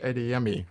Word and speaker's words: Adeyemi: Children of Blood and Bone by Tony Adeyemi. Adeyemi. Yes. I had to write that out phonetically.